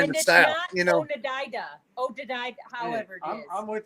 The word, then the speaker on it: Oneida: It's Oneida. If it's got an L in salmon, I say the L. I'm all about pronunciation.